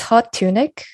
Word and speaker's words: Hot TuneiK: So, so I have to ask you, how did your name is it pronounced Hot TuneiK, by the way? Yeah.